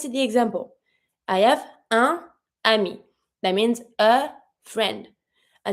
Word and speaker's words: un ami: I'm just going to re-pronounce my N over my first sound to connect with my second word.